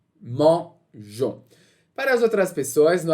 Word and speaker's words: mangeons: A gente não falaria mangeons, a gente falaria mangon. E para evitar essa mudança de som no G, okay? Na letra G, a gente vai adicionar o E para manter então essa pronúncia de J, mangeons.